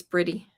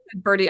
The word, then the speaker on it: Bridie: Sorry, is it Bridie? Did I pronounce it wrong? Bridie. Birdie? I think it's Bridie. Oh, BR. I'm sorry, I missed the R too. Birdie.